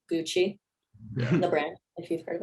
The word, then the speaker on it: g.ucy: Is it pronounced Gucci? g.ucy, the Gucci.